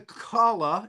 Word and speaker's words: Kala: that um is a Kala is it pronounced right kala that's right you got it you got it kala